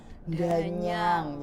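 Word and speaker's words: Dhanyang: Danyang pakai H, Danyang. Jadi kan biasa kalau ini Danyang ini berarti ejaannya salah ya? Biasanya kalau orang Jawa kan ada penekanan ya. Danyang kayak dahar.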